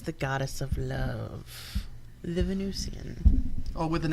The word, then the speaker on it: Venusian: goddess of love the Venusian Oh with an S Venusian it's like Venetian it's it's pronounced both ways but it's spelled with an S so when you see